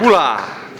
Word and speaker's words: Bula: Man, just do what you love and give thanks and Boola. Bula. Which rhymes with booyah.